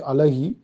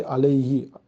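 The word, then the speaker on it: عليه: So we say ali he we don't say alah he say alai he it's easy to pronounce so it become ali mean upon he mean we already know who who become he.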